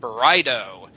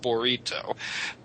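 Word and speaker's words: burrito: why you guys say Teo and Anila and Bido you know Bido to me sounds like something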